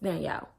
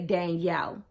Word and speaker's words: Danielle: E when I say Danielle. I don't say Daniel. It's a difference in the way you pronounce Daniel and Danielle.